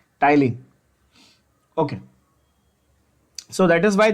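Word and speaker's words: ptyalin: Salivary amylase is also called Tyline. P, the P is silent, of course. Tyline.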